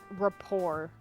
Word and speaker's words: rapport: me I think if I think Rapport like the t is silent okay I think you're